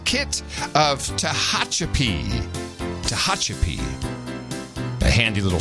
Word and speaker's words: Tehachapi: she now becomes baronet s kit of Tehachapi Tehachapi a handy little spelling pronunciation guide for me their Baroness kit of